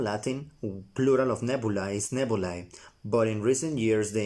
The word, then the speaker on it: nebulae: Nebulae. I'm going to pronounce that nebulae.